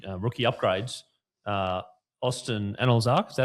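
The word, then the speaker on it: Anlezark: Austin Analyse, is that how you pronounce it? Analyse, yep.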